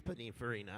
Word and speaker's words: Pininfarina: Actually, it's just, yes, it is Pininfarina.